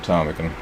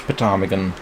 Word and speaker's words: ptarmigan: I am useless at shooting ptarmigan. And yep, that is how you pronounce it, even though it has a P at the front. It's not pronounced ptarmigan.